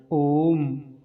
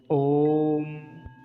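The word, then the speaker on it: ओम्: सबसे पहला शब्द क्या है, ओम। ओम। तो इसमें बीच में जो तीन बना हुआ है, ये प्लुत है। इसका तात्पर्य यह है कि इसका उच्चारण लगभग 3 सेकंड तक होगा, 3 पलों तक होगा।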